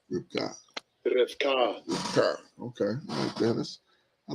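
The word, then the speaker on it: רבקה: How they pronounce it? Strong's H 7259. Rivka. Rivka.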